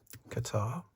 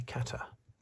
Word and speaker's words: Qatar: So, it's around number 23, Qatar. Or should it be Kata? I I hear some people pronouncing it kata, but that sounds that doesn't sound right to me.